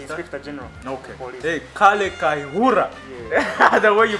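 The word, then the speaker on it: Kayihura: Hey, Kale Kaihura. Yeah. The way you pronounce him.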